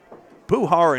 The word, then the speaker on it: Puhar: Puhar and Gouillart almost rhyme, except I've got the emphasis on the other syllable.